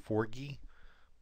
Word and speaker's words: Forgy: So if you go to Wikipedia and read about RETE, it was created by Charles, and I believe his name is pronounced Forgy.